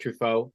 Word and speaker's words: Truffaut: saying this is like it's pronounced Truffaut. That's how you pronounce his last name.